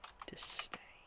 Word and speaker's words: disdain: How do you spell disdain? Oh, it's a D. It's disdain. Not dis. It's not tuh. It's a duh.